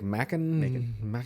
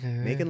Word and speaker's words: Macon: So I was like, Macon. Macon like bacon.